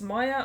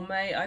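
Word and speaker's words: Maia: about the second Twin the first one my m a i a is pronounceable even though it's all vowels because the letter M carries it through so whether it's Maya or may I don't really much care but her sister doesn't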